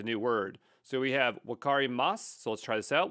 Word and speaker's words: wakarimasu: So we have wakarimasu. So let's try this out. We'll hit record. Wakarimasu. Okay, and it's correct because when you pronounce it, you don't usually say the U, but you keep making